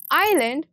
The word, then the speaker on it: island: Island, silent S. Once you identify the silent letter, you will stop repeating the same mistake.